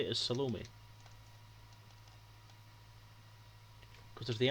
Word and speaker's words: Salome: you tends to ins it tends to signify that the stress is on the end of the word um in most languages